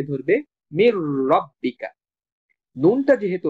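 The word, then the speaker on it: من ربك: তখন মিমটা সরাসরি র কে ধরবে, মির রব্বিকা। নুনটা যেহেতু র এর সাথে যুক্ত হয়ে গেছে তখন র কে আমরা দুইবার উচ্চারণ করব, এই কারণে এই তাসদীদ চিহ্নটা দেওয়া হয়েছে।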